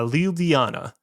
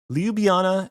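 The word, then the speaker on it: Ljubljana: It's actually uh Liubljana. You pronounce the J kind of like a Y.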